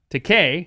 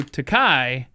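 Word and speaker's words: Takei: about how to pronounce it uh it is pronounced decay decay according to george himself however if you do takai that means in japanese the word for expensive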